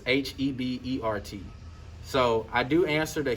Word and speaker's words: Hebert: it's very easy so the h is silent and the t is silent and then the e makes an a and then that's the